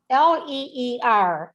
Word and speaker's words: leer: L-E-E-R, leer. Leer. We pronounce both E's. And the way we pronounce both E's is we just drag it out and make it a little longer.